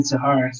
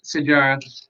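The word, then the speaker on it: Sijara: It's funny you're saying Sahara. It's Sarge. It is? Yeah, it's Sarge. Really? Yeah. Wait, isn't that her nickname, or is that like? No, it's Sarge. The J is pronounced Sajara.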